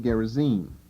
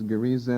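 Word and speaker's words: Gerizim: was Mount garizzi g-e-r-i-z-i-m probably better pronounced gerizine but the KJV I think has it accented as gariza and so that's just one of those words you pick up emphasizing the middle syllable instead of the last now you're going to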